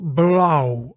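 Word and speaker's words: blauw: So both the au and the o u are both pronounced as o. So there's no real equivalent in English. Try making a vowel sound as in shout. But start by rounding your lips more with your mouth wide open.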